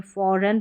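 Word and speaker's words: foreign: तो ये शुरू में है, जी साइलेंट। इसको रिज़ाइन गन नहीं पढ़ते, रिज़ाइन पढ़ते हैं, फॉरन पढ़ते हैं।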